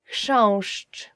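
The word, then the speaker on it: chrząszcz: will ever learn in Polish as for the pronunciation is shown I will just say it again shush which means beetle yeah so we use it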